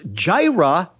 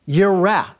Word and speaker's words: Jireh: It's Yahweh, and Jireh is not pronounced Jireh, it's pronounced Yireh.